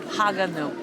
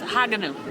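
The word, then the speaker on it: Haguenau: family right here behind us how to properly pronounce the name of this village. It is Haganau. Haganau. In French. And I think it was in German, it's Haganau. But it's Haganau in French.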